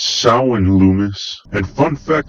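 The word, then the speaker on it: Samhain: to a local elementary school where he wrote sowin it means the lord of the dead it's pronounced SAU and Loomis and fun fact about this part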